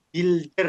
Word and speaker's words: builder: adalah konsultan Oke Builder ini bacanya Builder ya u-nya enggak usah dibaca teman-teman oke di sini